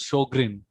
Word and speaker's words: Sjogren's: and they told that this is how sj is pronounced like sh so this is how sjogren's should be pronounced as shogrin second myth is most